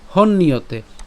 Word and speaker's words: হন্যতে: মন্নিয়তে যেভাবে উচ্চারণ করেছি, হন্নিয়তের উচ্চারণ একই রকম, হন ইয়তে। কেন ইয়তে, ওই যে জফলা উচ্চারণ কার মতো, ইয়র মতো হয়, এবং তার সাথে কি তে, তাহলে ইয়তে।